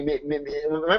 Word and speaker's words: Ami: Am I pronouncing your name right? Is it Amy or Amy? It's Ami, actually.